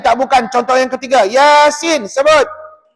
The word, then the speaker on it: Yasin: Sin ya Nun Nun tak boleh tutup bibir tak boleh Yasim tak boleh salah dia kena Yasin hujung lidah tu tekan